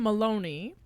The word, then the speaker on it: Maloney: conservative pundits uh Brian Maloney rhymes with baloney baloney and Melanie Morgan who